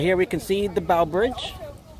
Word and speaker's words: Bow Bridge: here in Central Park it's actually pronounced the Bow Bridge not the B it's the Bow Bridge B bowbridge all right